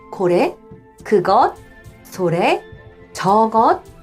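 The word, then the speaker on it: それ: 그것, 상대방 쪽에 가까울 때 소래하고 그 다음 멀리 있는 저것 할 때 아래. 해석 많이 틀리시거든요. 이거 잘 구분하시고요. 그 다음 제가 발음한 것처럼 고래, 소래, 아래는 뒤가 높고요.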